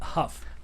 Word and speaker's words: Huff: about this lincoln hoe the huff rhymes with tough but not but he's not right or puff huh puff puff huff puff the magic dragon